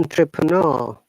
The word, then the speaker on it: entrepreneur: Okay, in British English, we pronounce entrepreneur, no R sound, and the R U is longer U.